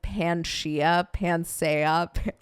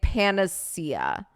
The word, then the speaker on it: panacea: I don't know how to I've never It's like pansia pansa.